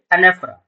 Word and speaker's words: anaphora: Pronunciation is एनेफरा।